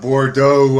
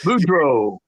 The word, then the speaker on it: Boudreaux: youtube or on fighttv bryce uh bordeaux i think i'm mispronouncing his last name but boudreaux boudreaux yeah sorry there i go